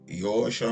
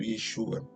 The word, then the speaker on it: Yeshua: V dizer Yeshua né Há quem diga que é yoshua mas Yeshua ou Yeshua são as duas melhores formas de se pronunciar Eu normalmente falo Yeshua tá que é uma